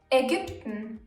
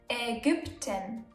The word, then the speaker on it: Ägypten: Ägypten, Ägypten, Ägypten. Analyse, Analyse. Easy, right? In the middle of a word, it's ü, and at the end of a word, it's e.